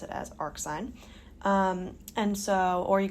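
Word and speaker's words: arcsine: Power like this um but either way we pronounce it as AR sign um and so or you can say inverse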